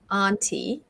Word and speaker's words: aunt: So if you notice the vowel here, like you go ah and ah for aunt and can't.